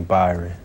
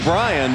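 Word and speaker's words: Bryon: And the only thing that disappointed me is people still call me Byron. Well, that's his first name is spelled B-R-Y-O-N, Brian, but inevitably the Y gets transposed.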